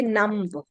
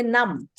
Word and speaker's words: numb: We don't say numb. We say numb.